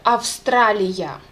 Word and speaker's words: Австралия: You just have to pronounce this V sound very clear. Australia.